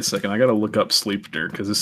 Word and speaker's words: Sleipnir: They would leave hay and treats for Odin's 8-legged horse, Sleperin. I don't know how you say it. Sleipnir. Sleipnir.